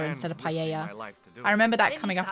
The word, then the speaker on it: paella: In the UK, we say paella as well, though. So, stand. Our pronunciation isn't good. Thanks for getting the say pella instead of paella.